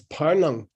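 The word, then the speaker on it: བར་སྣང: And then you have to pronounce this as parnang.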